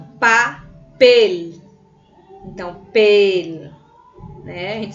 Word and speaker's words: papel: Observe a palavra papel. Papel. Pel. Então, você consegue identificar que tem aí uma tonicidade na palavra, na sílaba em si, né, gente?